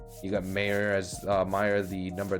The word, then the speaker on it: Mayer: We're gonna jump in so we can hit with Mayer. Keep saying Mayer, but they pronounce it Meyer.